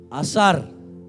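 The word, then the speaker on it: עשר: ப்ரொனன்சியேஷன்க்காக சரி உச்சரிப்புக்காக வச்சிருக்காங்க புள்ளி அந்த பக்கமா இருந்துச்சுன்னா சாு ப்ரனன்ஸ் பண்ணும் புள்ளி இந்தாண்டை இருந்துச்சுா ப்ரனௌன்ஸ் பண்ணும் தசம பாகத்துக்கான வார்த்தை அசார் ஐஸ்வரியத்துக்கான வார்த்தை அஷர் ஆனா ஒரே ஸ்பெல்லிங் அப்படின்னா ரெண்டும் ஒன்னோட ஒன்னு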